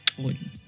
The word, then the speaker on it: Xolie: I was like, it means Zulu princess, Ndebele princess, whatever you want, but it's pronounced Oli.